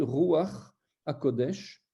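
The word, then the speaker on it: רוח הקודש: C'est des exceptions qui existent, et c'est quand on va parler du Saint-Esprit, Ruach HaKodesh, donc le Saint-Esprit, on va avoir une voyelle qui va être prononcée avant la consonne, sinon c'est toujours d'abord la consonne.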